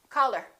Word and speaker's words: call her: word her same thing we drop the h we don't say call her generally when people are speaking naturally we say color i'll call her love